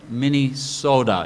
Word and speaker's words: Minnesota: pronounced this way the Minesota you got to have the D there is no T in Minnesota and then uh not